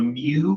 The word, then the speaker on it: mu: So, this technically isn't what they would call a mu chord is how they pronounce it, like a Greek mu letter.